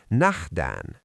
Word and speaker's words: Nähdään: In Finnish, this is Nähdään. Mnemonic: "Nah-dään (No dawn) will pass before I see you again." Student, say "See you!" Student: Nähdään.